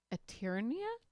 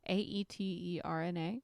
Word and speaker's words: Aeterna: Oh, I don't know how to pronounce this word. Eternia? Lux Eternia? Aeterna.